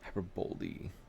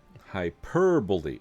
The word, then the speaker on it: hyperbole: Hyperboly. Hyperbole.